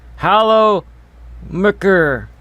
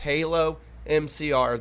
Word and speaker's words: HaloMCR: he's kidding right afterwards there has been so many people that continuously mispronounce my name when it's just so simple it's just halo mcr that's all it is and he says this